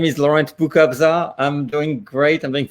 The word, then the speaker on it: Boukobza: Boukobza. Yes. Boukobza.